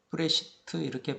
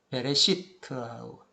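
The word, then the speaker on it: בְּרֵאשִׁית: 여기까지 모두가 첫째 날 이전, 태초 안에서 이 브레시트라고 했는데 브레시트 이렇게 발음하지 않고 베레시트라고 베레시트.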